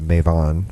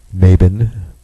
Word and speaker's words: Mabon: And of course, if you're of a European-based pagan faith, this is currently the Mavan Festival, or Maven, or Mabon. People like to mispronounce it, put the B in there. Mabon.